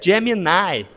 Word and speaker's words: Gemini: O esse do Google, a pronúncia seria Gemini, tá?